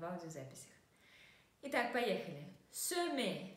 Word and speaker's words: semer: Semer. Вспоминаем, что буковка в открытом слоге читается как окончанию это и, да, semer.